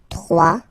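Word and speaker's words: trois: Final S not pronounced. 3.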